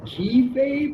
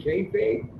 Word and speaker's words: kayfabe: Did you mean kayfabe? Yeah. The KAYFABE was taken, so I did it KEYFABE. Okay, keyfabe. Okay. It's kayfabe, but I had to spell it.